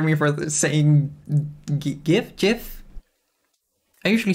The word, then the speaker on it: GIF: for the same gift jiff i usually say give but someone on reddit said it's pronounced like gift without the t let's change this to